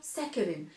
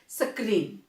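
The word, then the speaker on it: saccharin: They make use ऑफ सैकरिन। आप उनको पूछना तो आपको बताएंगे, they will pronounce like सक्रीन, right, it इज सैकरिन।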